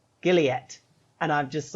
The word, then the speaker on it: Gilead: i ask a question is it pronounced gilead yup because my dumbass has been walking around calling it jaleed oh no and